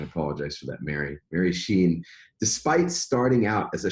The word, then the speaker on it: Cheyne: her directly so Mary and and I I've mispronounced her name initially but I'm gonna correct myself now so it's Sheen and that's Janey but it's Sheen and I apologize for that Mary Mary Sheen despite starting out as a shy computer programmer